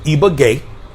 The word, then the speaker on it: Ibagué: But anyhow, I'm still currently here in Ibagué. Finally got the pronunciation right.